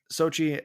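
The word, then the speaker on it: Xochitl: uh you got to remind me how to pronounce her name again uh chi SOI SOI thank you uh Sochi and Sochi Gomez and Benedict Cumberbatch had great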